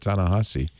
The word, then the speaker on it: Ta-Nehisi: finally told me how to say that, Ta-Nehisi, which is not how it's spelled.